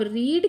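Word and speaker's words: read: अब रीड की जो पास्ट पार्टिसिपल फॉर्म है वो रीड ही होती है। रीड रेड रीड यानी स्पेलिंग सेम है। बस थोड़ा प्रोनंसिएशन का फर्क है।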